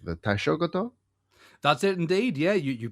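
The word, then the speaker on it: Taishōgoto: Being the, and I hope I'm pronouncing this correctly, the Taishogoto.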